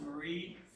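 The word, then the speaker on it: Mayre: And although you can't see Pipers, because it's, a lot of people call it the Mayor Building, but it's actually technically pronounced Marie. It's a weird spelling. It's M-A-Y-R-E, I think it is.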